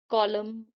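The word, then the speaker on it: column: ऐसे ही जब भी किसी स्पेलिंग में एम के बाद एन आता है तो वहां पे एन जो है वो साइलेंट हो जाता है। जैसे कि हिम, कॉलम, ऑटम, सोलम।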